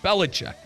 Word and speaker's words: Belichick: Belichick.